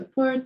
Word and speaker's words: port: We could also say, I'm going to go to the port. Je vais aller au port. So that's P-O-R-T, but the T is silent.